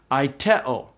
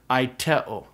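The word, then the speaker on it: αἰτέω: And so this word is pronounced aiteo. So originally it would have been something like aiteo, where the pitch would have gone up, but we just say aiteo.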